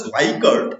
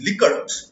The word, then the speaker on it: Likert: me tell you that often it is mispronounced the Swigert it is not like it is liquor so the scale developed